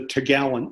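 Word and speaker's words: topgallant: the top gallant mast although it's written out here top gallant but an actual 19th century sailor employing the tendency of 19th century sailors to leave out as many consonants as humanly possible would have called it just the tagalon nest as the four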